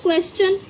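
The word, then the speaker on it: question: ये रूल है कि अगर टी आई ओ एन से पहले अगर एकदम एस आएगा तो हम उसको च पढ़ेंगे। क्या पढ़ेंगे? च।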